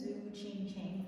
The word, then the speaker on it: Tzu Ching Chen: came here okay hi guys my name is zuo ching chang Bill did a fabulous job of pronouncing my official name properly because the spelling